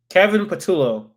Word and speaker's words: Kevin Patullo: I need to see how to pronounce it. Damn, he came up pretty quickly. Kevin Patullo.